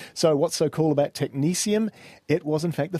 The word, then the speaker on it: technetium: At the end of the last episode, I said technetium because that's what it looks like when you spell it. Indeed, and I was going to correct you, but I didn't. But seeing as it's the next episode, technetium it is. Even though it's got a T-I-U-M at the end.